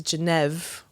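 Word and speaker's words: Genève: or or it's uh it's it's jev is that true yeah that's how they say it jev jev I didn't know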